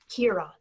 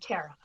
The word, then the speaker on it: Kiera: turn things around and my name is pronounced Kiera not Tara yeah well whatever now